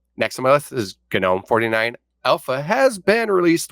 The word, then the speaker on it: GNOME: It is pronounced GNOME because it's GNU something. But is what it stands for. So it's GNOME. Don't correct me on that and don't say GNOME anymore.